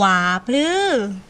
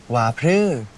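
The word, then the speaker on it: ว่าพรือ: หวว่า พือ ไม่ ใช่ เวฟ อั่น พรือ ที่ หรอ ออก เสียง สูง ๆ วา พลือ ว่า พือ มัน นั่น แหละ แปล ว่า อะไร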